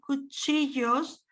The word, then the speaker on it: cuchillos: These cuchillos is pronounced as a Y, cuchillos, pajitas is like a H.